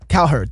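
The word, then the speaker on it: Cowherd: so I was watching I love Colin K herd uh Colin herd I don't know Colin C herd I he C herd C herd thank you I can't say it right but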